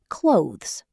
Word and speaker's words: clothes: Many learners pronounce every sound separately. But native speakers usually say clothes.